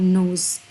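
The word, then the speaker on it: nose: एस को हम mostly Z की और जेड भी बोलते हैं, और जी यानी जी की जो वॉइस है उसके साथ प्रोनाउंस करते हैं नोज़। इट्स नॉट नोज़, इट्स नोज़।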